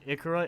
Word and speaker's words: Ikura: I prefer fern it just pronounced it ikura it's like Icarus but female that's actually how she